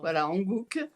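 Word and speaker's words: Hanguk: était là hier pardon j'ai pas retenu ça s'écrit ha N G u Hankook et ça veut dire c'est le nom de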